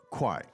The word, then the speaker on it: 快: 快 Now, the 4 tones in Chinese, as you know, could we hear those 4 tones with that syllable, kwai, please? 快快 Kwai, so it's the 4th Kwai, one there, right?